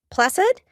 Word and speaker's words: placid: this topic is Placid Placid with the S sound the Soft C we use Placid to